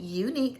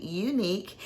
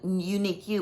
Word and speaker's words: Unique'e: I know it's not Unique You, but I think it's pronounced Unique fragrances or Unique luxury fragrances or parfums.